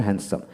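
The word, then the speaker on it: handsome: does not look হ্যান্ডসাম হ্যান্ডসাম এইচ এন হ্যান্ড ডি উচ্চারণ হবে না হ্যান্ডসাম চুল বিহীন একজন লোককে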